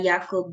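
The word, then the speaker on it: Jakob: is your cfel uh yakob disease or your C CJ D okay so um just assuming that this is a German name so that is why I pronounce the J as y okay and H G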